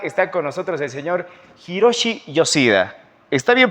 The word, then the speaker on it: Hiroshi Yoshida: Lo voy a presentar, está con nosotros el señor Hiroshi Yoshida. ¿Está bien pronunciado?